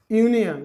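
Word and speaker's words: union: अगर वही अगर देखा जाए दोस्तों यूनियन, तो यू आ रहा है ना, यूनियन में क्या आ रहा है, यू, तो यू क्या है दोस्तों, व्यंजन है। अब वो बचपन में तो देखते हैं यू भावेल है, भावेल है, लेकिन यहाँ उसका उच्चारण क्या आ रहा है, जब हम लोग इसको पढ़ रहे हैं तो यूनियन, तो उच्चारण के अनुसार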